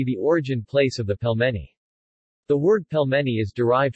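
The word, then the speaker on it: пельмени: pelmeni Russian pronunciation PLM n Russian pelmeni plural Pellman russian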